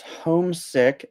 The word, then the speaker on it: homesick: Um, I think that the stress is on the first syllable.